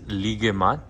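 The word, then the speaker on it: Luqaimat: It's pronounced as ligemat. Ligemat, yes.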